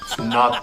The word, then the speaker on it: knot: and spell the word not k-n-o-t not spell the K say it like it's not there not the knot I